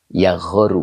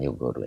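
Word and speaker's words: يَغَارُ: Dibacanya yagoru bukan yugoru ya.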